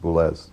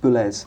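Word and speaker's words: Boulez: It's pronounced Boules. Boules.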